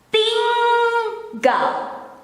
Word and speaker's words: tinggal: It is the same when you have to pronounce ringing, singing, the there, the N and G.